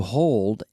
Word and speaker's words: hold: I need to hear that D. Hold. Hold. The D in English, especially at the end of words, are lost.